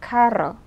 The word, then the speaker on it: carro: The word for car in Spanish is carro. So it would be kind of hard if you said caro and you meant carro.